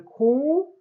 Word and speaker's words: 공: Okay, the digit 0 is pronounced as either 공 or 영. Okay, for telephone numbers, 공 is used.